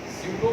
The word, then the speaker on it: pseudo: In pronunciating pseudo, the P is kept silent.